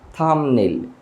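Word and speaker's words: thumbnail: বাট এটা উচ্চারণটা হবে থাম্বনেইল, থাম্বনেইল। এখানে বিয়ের উচ্চারণ হবে না।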